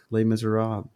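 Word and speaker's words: Les Misérables: I asked your favorite book I've started reading lay Miser Rob is that the correct pronunciation yes look at that thing how many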